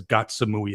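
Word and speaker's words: Ko Samui: I noticed that Brian Flowers actually says Gatsamui as well. He doesn't say Ko, so he's pretty good.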